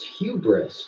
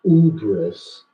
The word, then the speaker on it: hubris: Well, ma'am, you pronounced it wrong. It's hubris, not ubris.